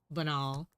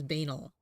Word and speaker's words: banal: French that like the the term comes from the French and so she I